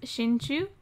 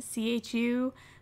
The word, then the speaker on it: Shinchu: Technically, his last name, it's the way I spelled it is Shinchu, but it should either have like two U's or like a little line over the U, just for the pronunciation of it to be exact, but I never put it in there, so I mean, it's still kind of the same, so whatever.